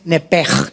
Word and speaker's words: nepesh: Aquí en Génesis 35:18, la palabra hebrea original para alma es nepej. Se escribe nepesh, S-H.